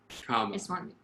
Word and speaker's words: Kaba: Kaba. That's how she pronounces her name.